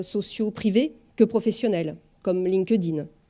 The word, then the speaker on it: LinkedIn: privé que professionnel comme linkedin je le prononce à la française que linkedin s'est un petit peu plus difficile donc linkedin le plus